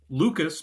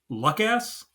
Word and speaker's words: Lucas: We got Keenan as Lucas, but he pronounces it Luckass.